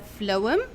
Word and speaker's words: phloem: So what is a phloem? As we see this small word, it consists of 2 syllables. We have PH make the sound F, so we have flow, M. So phloem, okay?